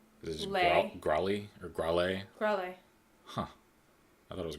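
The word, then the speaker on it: Gralea: They don't pronounce the A. Oh, do they not? No, it's like... Is it Growly or Growlay? Growlay. Huh. I thought it was Growlia.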